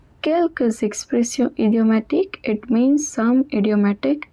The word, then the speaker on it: quelques expressions: And there is a liaison, so the S at the end is also pronounced. Quelques expressions idiomatiques, it means some idiomatic expressions.